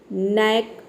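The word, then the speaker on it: knack: ठीक उसी तरह से यहाँ पे देखिए है नीट, नैक, नाइफ। सभी वर्ड में के शुरू में के आया है और के बाद एन आया है, इसलिए यहाँ पे के लेटर साइलेंट है और हम एन को प्रोनाउंस कर रहे हैं, ठीक है।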